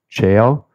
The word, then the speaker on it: Chao: I think the right way to say it is Chao, C-H-A-O.